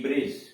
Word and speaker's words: bridge: कर अगर ऐसा कोई शब्द है जब किसी वर्ड में डी के बाद जी हो तो डी का उच्चारण नहीं होता है। जैसे BRIDGE ब्रिज, ब्रिज पुल, BRIDGE ब्रिज पुल।